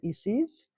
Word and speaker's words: Isis: she wants me to call her Isis she says that is how we pronounce it so is is um